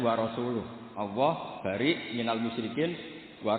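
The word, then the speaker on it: وَرَسُولُهُ: Wa rasulih juga tidak ngurus Rasulnya. Kalau sama Rasul saja tidak ngurus, apalagi sama kita. Sama Sayyidina Ali dibenarkan yang benar bacanya itu wa rasuluh.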